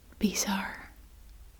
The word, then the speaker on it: bizar: bizar yes so um we pronounce it in Dutch as bizar trying to say it